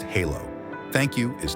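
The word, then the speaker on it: halló: or daughter daughter 13 in Icelandic hello is pronounced Halo thank you is talk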